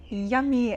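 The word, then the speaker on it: yam: Place them on your heart and you're going to chant yum. Y a m but pronounced yum.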